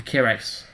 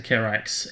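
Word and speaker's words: Kihraxz: Now, is that how you pronounce it? The Kirax? I've always pronounced it the Kirax. It's probably something more like the Kizarax or something like that. I don't know, but I always call it the Kirax. Kirax sounds nice. I think the Z is silent.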